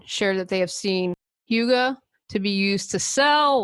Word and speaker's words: hygge: fun with it I've seen books such as Huga the Danish art of Happiness the little book of Huga and remember that's spelled Hy g g the little book of